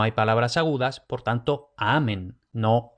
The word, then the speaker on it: amen: amen y aquí oj como habíamos dicho en latín no hay palabras agudas por tanto amen no amén que sino No me